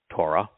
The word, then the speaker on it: Torah: Torah. The O sound in Torah comes from the Wah.